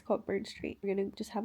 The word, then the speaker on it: Cockburn Street: booth thing that's on Coburn Street. It's spelled Cockburn Street, but I think everyone calls it Coburn Street. But let's be real, it's Cogburn Street.